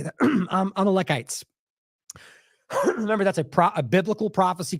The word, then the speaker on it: Amalekites: Amalekites.